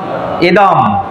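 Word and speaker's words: ইদং: আছে বুঝতে পেরেছেন আর যদি একটি শব্দের শেষে থাকে অবশ্যই ইদম অর্থাৎ ম উচ্চারিত হবে আমরা যতটুকু জানি তা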